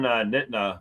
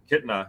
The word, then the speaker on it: Kitna: John Nitna, the former quarterback of the Bengals, Kitna. Yeah. I have to pronounce the N for some reason, but he's now the quarterback there, which has drastically changed that offense.